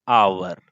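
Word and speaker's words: hour: अगर हम यहां पे भरेंगे दोस्तों तो हम क्या भरेंगे, 40 किलोमीटर एन आवर। अब एन क्यों इस्तेमाल किए, बिकॉज इसका प्रोनाउंसिएशन आवर हो रहा है, so that's why एन यूज हुआ। यहाँ डजन हो रहा है, so that's why ए यूज हुआ है।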